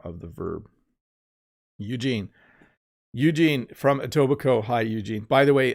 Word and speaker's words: Etobicoke: If you look at it, it's kind of a strange looking name and it looks hard to pronounce, but it's Etobicoke.